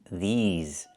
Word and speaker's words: these: These plus the z sound like in zebra and zipper.